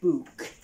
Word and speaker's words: bouq: this is called a book it is spelled b-o-u-q book and as you guys